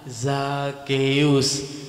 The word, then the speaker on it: Zakeus: Yang benar adalah Zakeus.